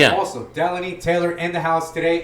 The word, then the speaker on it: Deloni: He's like, "I take Delani." I said, "My name's Delanie."